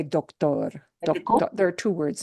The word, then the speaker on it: doctor: Instead of doctor, it's doctor. Doctor. Yeah, spelled the same, but a different pronunciation.